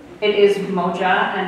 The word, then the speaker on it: moja: the last time he performed it we actually pronounced it wrong it is moja and not Moya so apologies to my current ninth graders and